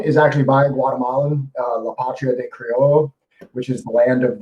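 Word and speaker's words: La Patria del Criollo: So that one again is La Patria de Criollo is actually how it's pronounced.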